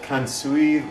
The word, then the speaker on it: kansui: I looked online on how to make it better, and they recommend using a 1/4 teaspoon of kansui liquid. I'm not sure how to pronounce that.